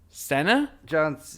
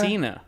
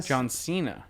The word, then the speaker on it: Cena: Senna? How do you pronounce his Do name? you pronounce it Senna? I don't know. How do you pronounce his I've name? heard it pronounced Cena. Cena. John Cena.